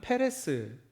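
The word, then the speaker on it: פרס: 바르신의 발음은 페레스이고요.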